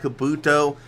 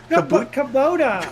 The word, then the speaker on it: Kubota: He's still all over that back bumper of that Kabuto 99 machine. Kabuto? What is Kabuto? Kabuto? How the hell do you pronounce? I've always pronounced it Kabuto. Kubota. It's Kubota.